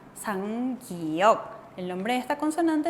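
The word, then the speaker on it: 쌍기역: 상기억. El nombre de esta consonante entonces es 상기억. Doble 기억. ¿Y cuál era el sonido de la 상기억? ¿Cuál era? Era ka, que, ki, ko. Así tenemos que pronunciar.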